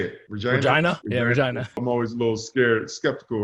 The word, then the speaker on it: Regina: Yeah, Regina.